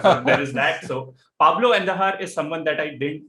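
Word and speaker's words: Andújar: uh pablo and his his pronunciation itself sounds like kandahar so so there is that so pablo endahar is someone that i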